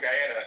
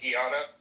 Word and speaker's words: Guyana: like, "Yeah, you know, because my family's from Guyana." And she would literally be like, "It's pronounced Gana."